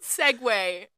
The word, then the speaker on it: segue: Um, the word segue is spelled in a way that is personally offensive to me. Um, because it looks like it's seg like like it's the